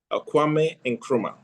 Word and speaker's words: Kwame Nkrumah: focus on sorry, I don't know how to pronounce that. Would you help me? Okay. I'm sorry? Kwame Nkrumah.